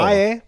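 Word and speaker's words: Fage: Faye. Ah. But if you pronounce it like a American, you'll say fag, That's true.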